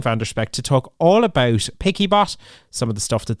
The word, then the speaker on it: PiccyBot: the app is called picky bot is it correct correct now the whole idea was that it was uh it's it's a picture bot and then we make it okay let's make it picky bot to be yeah